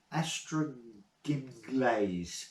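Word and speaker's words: Ystradgynlais: Astraginlays. Astraginlays. That's how you pronounce it.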